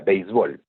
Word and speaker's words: béisbol: pero de todas maneras la pala es frecuente pronunciar como béisbol no como si fuera palabra aguda béisbol pero lo correcto es béisbol no y esto porque el béisbol viene de una palabra en inglés así no es es